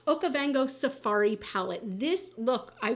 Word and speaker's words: Okavango: is the new Nomad palette so it is okavango I had to just look at the pronunciation okavango Safari palette this look I wore my leopard